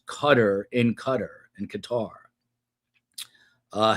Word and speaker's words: Qatar: In the United States, you're supposed to say cutter. Some say Qatar. Uh but the real correct pronunciation from what I'm told is cutter, like a Coast Guard cutter.